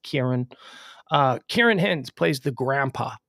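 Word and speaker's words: Ciarán: And by the way, it's Kieran. It's Kieran Hins. Okay, just so you know, I know it's pronounced or it's spelt with a C and an I and an A.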